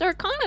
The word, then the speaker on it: Arcana: informed that we have been pronouncing our our condom or Connor wrong this entire time I'm very sorry Arcana it is not arcade it is our con it's Arcana now uh with the B1